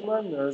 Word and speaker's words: Coman: On prononce Coman, mais il a dit qu'il accepte de dire Coman parce que les gens l'appellent Coman depuis le début de sa carrière.